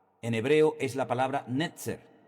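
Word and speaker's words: נצר: Ahora, analizando el texto en hebreo, la palabra vástago en hebreo es la palabra netzer. Netzer, N-E-T-Z-E-R, netzer.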